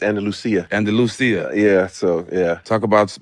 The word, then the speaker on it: Andalusia: Andalusia.